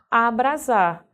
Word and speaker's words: abrasar: vai levar s também abrasar escrito com s mais pronunciado com z veja que semelhante a